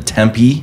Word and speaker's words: Tempe: for you know letting me be here in Tempe did I say that right yeah Tempe Tempe yes Tempe Arizona Tempe Tempe Tempe mm-hmm how do you spell it hey someone